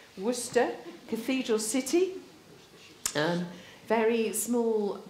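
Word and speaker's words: Worcester: where Wooster is and how you pronounce it this is Wooster Cathedral City and very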